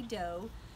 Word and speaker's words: do: is spelled r e dough is D Oh looks like do but we say dough ray is our e